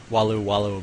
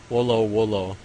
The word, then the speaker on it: Wolo: So I don't know why I said Walu, but it's Wolo.